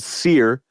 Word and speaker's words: Cyr: It's spelled ATUM. Their last album was called Sear, spelled CYR.